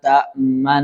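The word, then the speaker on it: تَأْمَنَّا: Kemudian surah Yusuf ayat 11 ini ee ismam ya bacanya dengan ismam. Ismam itu memayunkan ee kedua bibir ya. Ismam memayunkan kedua bibir. Qolu ya abana maa tamna aa yusufa wa inna lahu lanasihun.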